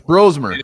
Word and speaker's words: Brosmer: It's Brosmer, by the way. We keep saying it wrong.